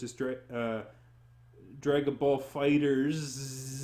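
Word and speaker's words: FighterZ: newer fighters such as strike drag the ball fighters said that's not how you pronounce that by the way it's fighters fighters are the Zed with a Z but you don't pronounce it fighters Z yes a fighters is it anyway that being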